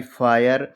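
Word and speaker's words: fire: जैसे एफ आई आर इ फायर।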